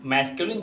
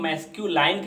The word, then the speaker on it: masculine: 9 लिखा है, तो कभी कभी हम इसके उच्चारण में गलतियाँ करते हैं। इसको हम मैस्क्यूलाइन कह देते हैं, इसको हम फेमिनाइन कह देते हैं, तो इसको हमें सुधारना है।